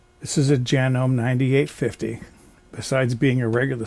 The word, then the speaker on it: Janome: some people pronounce it Janome what I learned online is it's genome It's Made in Japan where they pronounce it hanume this is a genome 9850 besides being a